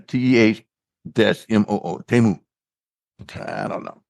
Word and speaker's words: Temu: It's Temu, not Timu. Mm-hmm. It's pronounced Temu. Temu, right. Yeah, TEH-MOO.